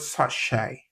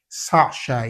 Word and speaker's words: sachet: see in the word sachet. Sachet, yeah? So the word sachet, you see that the T is silent and then the letter E is pronounced as the diphthong A.